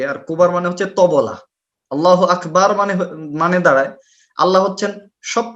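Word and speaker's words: الله أكبر: আল্লাহু আকবার এই শব্দটা উচ্চারণ করতে গিয়ে তারা বলে আল্লাহু আকবার, বাতে টান দেয়।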